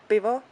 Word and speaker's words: pivo: It's a pivo. Pivo. Pivo. Like Pivo. with P. Pivo. Yes. Pivo. Oi. So if you like Pivo. to order a beer in Czech, just jedno pivo, prosím.